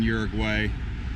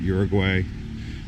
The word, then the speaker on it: Uruguay: you say it Eric why not Uruguay I was always calling it Uruguay lady at the passport day station told me bird white bird way anyways it's actually even not even pronounce that's not even pronouncing it correctly there's a better way that the locals say it so I do take